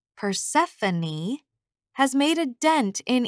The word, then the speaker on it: Persephone: the story to him no amount of my insisting that it's pronounced Persephone has made a dent